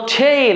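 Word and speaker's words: tale: কি ওকে তাহলে আমরা টি এল এ কি উচ্চারণ করব টেইল এম এল এ মেল এফ ই এল এ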